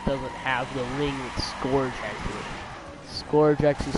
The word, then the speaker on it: Scourge: I was pronouncing his name wrong for like ever, at least 5 years, dude. His name is Scourge.